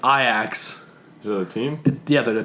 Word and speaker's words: Ajax: it's Lester be sure wait how do you pronounce this AJ ax Ajax its I ax so team the other two Dutch team okay